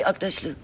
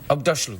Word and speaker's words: Aghdashloo: You're familiar with Ugg boots? Ugg boots, yes. Say Aghdashloo. Aghdashloo.